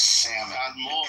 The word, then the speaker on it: salmon: The other words have a silent L in it.